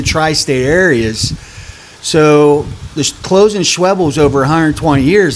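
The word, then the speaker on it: Schwebel's: And Schwebles rhymes with pebbles.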